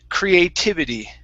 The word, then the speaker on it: creativity: uh the stress uh the stress is gonna be on tiv creative that's why i pronounce that t but this t is a flap t creativity because the ending of the word does not receive the stress okay creativity creativity that's